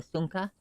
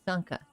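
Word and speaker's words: šúŋka: So, whereas I may call like a dog a sunka, still in Lakota, but a different dialect, that may be, instead of sunka, it'd be pronounced sanka.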